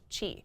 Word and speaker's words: Qi: most devices support Qi which is Qi it's pronounced Qi it's supposed to be like who are the